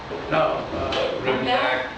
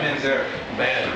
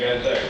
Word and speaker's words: Manzarek: Rimzak, or the piano player for the Doors. Ray Manzarek. Ray Manzarek there, thank you.